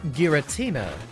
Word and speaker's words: Giratina: diverge though like uh i think giratina is how our favorite ghost dragon is pronounced but i always call it gratina just because the presence of the word tina in the name makes it feel a little less threatening please only hit twice